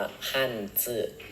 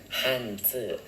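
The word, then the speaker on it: 汉字: อักษร จีน นะ ฮะ หรือ ภาษา จีน เขา จะ ออก เสียง กัน ว่า ฮั่นจื้อ ฮั่นจื้อ อ่า ตัว แบบ เ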